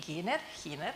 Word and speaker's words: Giner: Then Lisa van Heyden, Enno, Pötschke, and Nami, Gradoli, Hiner, actually in Spanish, but she's fixing her presentation, so you're going to meet her a bit later.